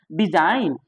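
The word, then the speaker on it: design: डिजाइन, जी है, silent हो गया जी।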